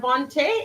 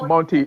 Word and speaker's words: Monte: so the three card a three card vonte is that how you pronounce it Monte yeah Monte Monty Monty a game traditional associ